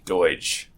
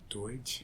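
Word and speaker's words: Doidge: uh Norman and I can't pronounce it spell pronounce this for me Larry D oi dge Doge Doge yeah Norman dege and he's a doctor uh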